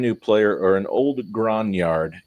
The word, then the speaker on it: grognard: This is an excellent addition to any collection, whether you're a brand new player or an old grognard. Yes, that is how it's pronounced because it's French or something.